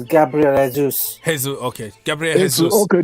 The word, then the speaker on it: Jesus: It's Gabriel Jesus. Okay. Gabriel Jesus. Okay, they pronounce it like Spanish too. Jesus. No, that is Portuguese, yeah, Bill.